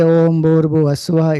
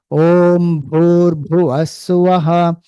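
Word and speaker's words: Bhūr Bhuvaḥ Svaḥ: So many people say, Om Bhurbu Aswaha. It is not Bhu, it is Bhu. Air should come, no. Om Bhurbu Aswaha Tatsa Viturvare Enyam Bhargo Devasya Dhimahi.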